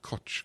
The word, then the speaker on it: Koç: It's like a ch. Yeah, it makes a ch. Yeah. It's KOC, but it's pronounced Koç. Mm-hmm.